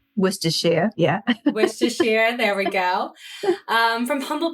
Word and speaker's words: Worcestershire: She was born in Worcestershire, United Kingdom, which I think I pronounced correctly, but I'll double check when I... Worcestershire, yeah. Worcestershire, there we go.